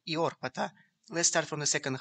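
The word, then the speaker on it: Οἰόρπατα: If we assume that this word should be pronounced as a medieval or modern Greek word, then the word Oyorpata is actually Iorpata.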